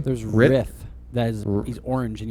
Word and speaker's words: Rith: I think it's riff, like a guitar riff, not like a rift in time.